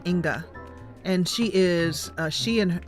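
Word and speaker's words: Inge: name is Inga I I know how it's spelled ing e because I've seen it for so many years but I think it's pronounced Inga and she is she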